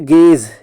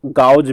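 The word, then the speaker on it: gauge: Next है गेज, देखो इसको पढ़ते गेज है, लेकिन इसको गाउज भी पढ़ लो तो कोई हर्ज नहीं है, क्योंकि इसका स्पेलिंग को हम लोग को ध्यान में रखना है।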